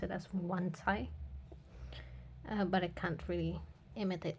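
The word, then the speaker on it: Wancai: of the spin as wankai which is absolutely wrong because it's not English but also I think in a Japanese video they pronounce it as one Thai but I can't really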